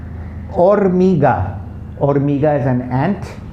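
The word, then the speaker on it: hormiga: okay so ola aura okay like o-r-a is pronounced boy's name or mega or mega is an ant liver yellow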